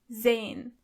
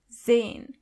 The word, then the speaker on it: sehen: sprechen To see is sehen. sehen As you can see the letter S is not pronounced as S but more like Z. So you say sehen.